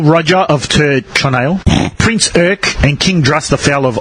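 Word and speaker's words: Eire: King Len of it's how do you pronounce it I Ira Ira yeah what do you mean cuz once you cre say it's the kingdom of Island all right but it's spelled e i r e go a a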